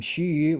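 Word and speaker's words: 徐訏: his name so john insists on calling him shuu which is very nice because that's actually the pronunciation that shushu uh preferred uh let me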